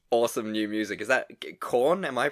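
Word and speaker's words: Korn: what is this awesome new music is that corn am i pronouncing that right corn yeah one yeah everyone's wearing leather so you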